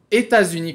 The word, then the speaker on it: États-Unis: Entretanto, com États-Unis, como États-Unis começa com um E, temos que utilizar a liaison e falar os États-Unis.